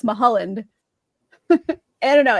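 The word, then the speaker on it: Mulholland: He was the waters are of Thank you for saying it right. How else do people say it? They say Mhalland, which is weird because it's Mahaland.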